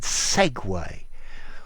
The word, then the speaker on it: segue: Look at the pronunciation of this word, segway. How do these letters make segway?